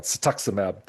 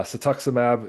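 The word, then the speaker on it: cetuximab: It was a anti-cancer drug called I always almost say it wrong, satuximab. uh satuximab it was being administered to people in trials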